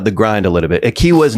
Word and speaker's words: Equihua: Yeah, Akiwa is my last name and I um when I was growing up it was a very difficult last name to pronounce.